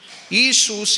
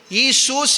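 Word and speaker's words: Ἰησοῦς: அது LESOUS. அந்த எல்லை என்ன செய்யக்கூடாது, ப்ரொனவுன்ஸ் பண்ணக்கூடாது. அது ஈசூஸ் என்று தான் எதில் இருக்கிறது, கிரேக்க பைபிளில் இருக்கிறது, எழுதினது.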